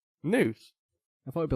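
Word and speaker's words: Nuse: So News. It's like Muse's Angst. Yeah, it's like Muse, but with an N.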